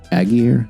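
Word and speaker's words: Allgeier: Tyler Aguirre, that's how you pronounce his name, ran really well, 17 for 139 yards.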